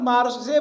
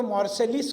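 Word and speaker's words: Marseille: सावरकर जी बताते हैं हमारी अगली मुलाकात मारसे बंदरगाह पर होगी। वो मारसे का फ्रेंच स्पेलिंग आप करेंगे तो मॉर्सेसलिस कहेंगे लेकिन वो फ्रेंच उच्चारण मॉरसे है।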